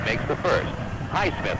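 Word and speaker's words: Highsmith: to shoot two here's hay Smith makes the first High Smith I guess is the way we should say his name hey wood heith awood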